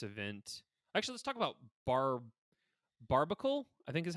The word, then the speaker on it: Barbacle: Actually, let's talk about Barbacle. I think is how you say the evolved form. Barbacle. Barnacle. No, Barbacle. There's an No, I extra just B like in there.